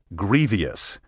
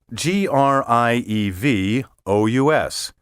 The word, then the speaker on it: grievous: next we have grievous which is often mispronounced grievous even by educated speakers these speakers are also prone to misspell the word by interpolating a spurious i g-r-i-e-v-i-o-u-s the correct spelling is e g-r-i-e-v o u s and the proper pronunciation has two not three syllables grievous now let's talk about